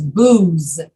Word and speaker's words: booze: going to serve alcohol that's what that word is booze and you have to use your voice to say the z booms jonathan how do